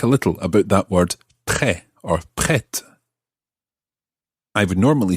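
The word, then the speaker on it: prêt: e circumplex t now the t at the end is silent like most t's at the end of most french words pre but in the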